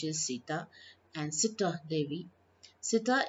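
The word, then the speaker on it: ستة: Sita is the pronunciation of the number 6 in Arabic.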